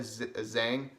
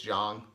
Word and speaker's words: Zhang: I think I also I always said Zhang but I think it's John it's probably I think that's right and then uh this one